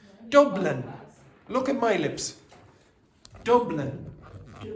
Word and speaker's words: Dublin: You didn't do that the first time. You were going Dublin. Dublin. There was no lips coming together.